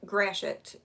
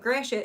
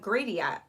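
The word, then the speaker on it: Gratiot: whole day um but gracious is spelled g r a g-r-a-t-i-o-t well people say like gradient and stuff well i can understand why they would because that's what it looks like or like the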